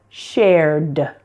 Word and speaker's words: shared: So when share adds an ED, it sounds like shared. Smile, smiled. Stay, stayed. And please, pleased. Again, note that the E's are silent there. Just pronounce the D, not ed, but D.